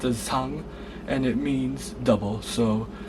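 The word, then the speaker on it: 쌍: It's pronounced as sang, and it means double.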